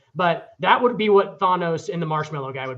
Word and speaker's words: Thanos: ball hold hold on are you saying Thanos or Thanos it is Thanos it is pronounced Thanos [